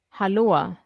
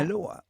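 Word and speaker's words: hallå: what do you uh how do you say hello in Swedish haloa haloa haloa yeah aloa it sounds Hawaiian Aloha aloa hello everyone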